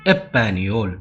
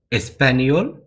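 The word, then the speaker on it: España: சில பேர் வந்து எஸ் சைலண்ட் ஆக்கிட்டு எப்பானியோல் அப்படின்வாங்க. எஸ்பானியோல், எப்பானியோல். ஸ்பெயின் அந்த ஒரு நாட்டை எப்படி உச்சரிப்பாங்கன்னா, ஸ்பெயின்ன்றது எப்படி உச்சரிப்பாங்கன்னா எஸ்பானியா. சில பேர் வந்து எஸ் சைலண்ட் ஆக்கிட்டு எப்பானியா. எஸ்பானியா, எப்பானியா.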